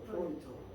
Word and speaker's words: 프로이트: 여기 다른 데서 지구문도 있었는데 이게 이름이니까 FREUD 이 프로이트라고 읽어요. 프로이트.